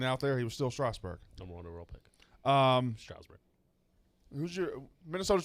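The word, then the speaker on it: Strasburg: was there the entire it's not how you say his name at all stroudsburg strasbourg there's no u in it bryce harper steven straussberg strasberg stevens straussberg it's not a strowl there's no you in it it's strasbourg san diego state fine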